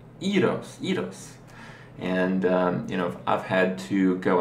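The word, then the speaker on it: γύρος: And gyro in Greece, in Greek, is not pronounced gyro, it's pronounced eros.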